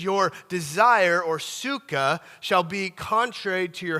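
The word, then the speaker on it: תשוקה: Now this word desire in the Hebrew uh is a word is the word suka. The t is silent.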